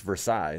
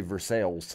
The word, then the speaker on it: Versailles: How's it actually pronounced? In France, it's Versailles, the palace of Versailles. Wow. But we say Versailles.